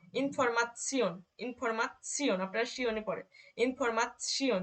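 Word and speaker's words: Information: যখন এটা একসাথে থাকবে তখন কিন্তু এটার উচ্চারণ হবে শিওন অথবা চিওন। যেমন ইনফরমাসিয়ন, ইনফরমাসিয়ন, আপনারা শিওনে পড়ে, ইনফরমাসিয়ন, দেখেন একসাথে কিরকম হচ্ছে, ইনফরমাসিয়ন।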